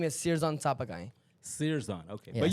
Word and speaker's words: Sirjan: My mom, the original way to pronounce it is Sirjan. Sirjan. Sirjan. It means the creator of the universe. In But it's like Sanskrit. spelled the same way, the way she says it, and the way Yeah. the American is just pronounced differently. Like in school, I got